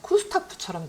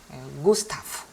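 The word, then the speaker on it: Gustav: 얘네들은 유성음이기 때문에 좀 징그러운 소리를 내라. 게가 아니고 게 이렇게 소리 내야 돼요. 예비, 구스타프. 자, 우리가 구스타프 하기가 쉬운데요. 그러면 약간 쿠스타프처럼 들려요. 구스타프 이렇게 하셔야 돼요.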